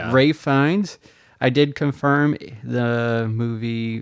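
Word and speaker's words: Ralph Fiennes: You were correct in how to pronounce Rafe Fines. You were we said like Ralph, but you you're like actually I think it's Ray Fi or Rafe Fines, but you were correct. Ray Fines.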